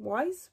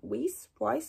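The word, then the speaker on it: Weisz: Fraser and Rachel Weiss is that how you say her name wise white whis I think it's wise um now I absolutely love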